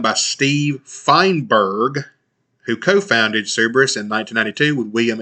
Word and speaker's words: Cerberus: Cerberus, I think some people pronounce it Cerebrus. Cerberus, we're just going to say Cerberus Capital Management.